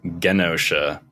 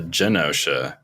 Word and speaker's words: Genosha: fact in Marvel Rivals Magneto says Genosha with that hard G and uh in uh X-Men 97 he's a josha Magneto so just just a